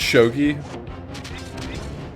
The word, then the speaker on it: shogi: it just looks like a cool game it's shogi sh G it's Jesus I can't this conversation